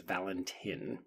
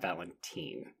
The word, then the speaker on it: Valentin: It is Valentine, not Valentine.